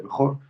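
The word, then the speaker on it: בכור: Pues porque en hebreo se escribe Bejor, como hemos dicho, así se pronuncia Bejor, con tres letras, Vet, Haf, Resh.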